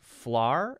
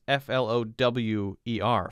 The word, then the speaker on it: flour: flar instead of flour we actually pronounce flour like like the flour you would use to make dough for bread as exactly the same as f-l-o-w-e-r flower right flower flower same thing he's saying it as